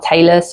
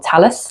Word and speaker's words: talus: in here, which is called our talus or talus, depending on how you want to pronounce it, we can actually do